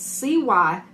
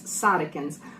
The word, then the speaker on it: cytokines: I'm going to mispronounce it. It's cytokines, cytokines.